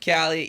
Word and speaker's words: Kaylee: Oh, Callie, yep. That's, Callie, sorry. Yeah, it's spelled Kaylee.